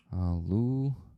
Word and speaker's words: Halushchenko: Herman Halushchenko. Yeah, like this. That's a pretty tough name, the last name, I mean, to pronounce. Halushchenko.